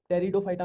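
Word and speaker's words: Pteridophyta: टेरिडोफाइटा में इसमें P silent ही चलता है, जहां भी पी आ गया वहां साइलेंट ही चलेगा।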